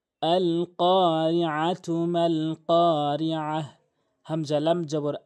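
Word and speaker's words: القارعة: এখানে কফটি জিহ্বার গোড়া থেকে উপরের তালুর সঙ্গে ধাক্কা দিয়ে উচ্চারণ করবেন।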